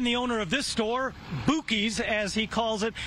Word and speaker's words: Buky's: Buc-ee's name, that his store name is actually pronounced Buky's, a name that his friends used to call him when he was a kid. Again, the owner of this store, Buky's as he calls it, says he is not